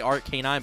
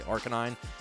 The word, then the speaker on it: Arcanine: want to say it i used to say art canine but then everybody said i was saying it wrong so now i say arcanine but i used to